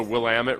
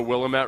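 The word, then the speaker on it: Willamette: he probably pronounces the I think it's the will Amit River I used to think it was the willat river oh it's not the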